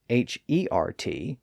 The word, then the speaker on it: heart: In one passage, he spelled it H-E-R-T, reflecting its older pronunciation as hert, and in another passage, he spelled it H-A-R-T, reflecting its modern pronunciation.